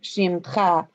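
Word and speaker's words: שמך: translate or read those, I think of which syllable it should be attached to, because it's not its own syllable often. So that's why it's like shimcha, because it's part of that syllable, Yeah, it's like a syllable clause or something.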